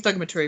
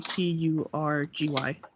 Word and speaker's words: thaumaturgy: I can send you Thugmatary if you want me to, but Spell it for me. THAUMATURGY.